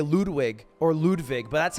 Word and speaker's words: Ludwig: So yeah, find me anywhere on Ludwig Ogren, and Twitch, just Ludwig.